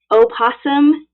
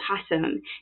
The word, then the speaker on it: opossum: all right is it opossum or is it possum she's like everybody wants to know and i'm thinking i mean she's kind of right like whenever you say possum you're like did i just say it right anyway either way is right i'm telling you i'm educating you now um either way is correct but we as americans